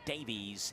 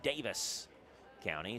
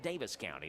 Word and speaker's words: Davis County: Davies I do know the people there who are from Davis County pronounce it Davis County the two to Beck